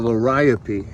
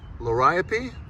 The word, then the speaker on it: Liriope: It's Liriope, not Liriope, although everyone in the South that I've heard says Liriope. Liriope is the correct, and it's coming back.